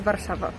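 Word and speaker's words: Warszawa: in English it's wasel waro yes and is varshava you visiting Japan you live in Japan no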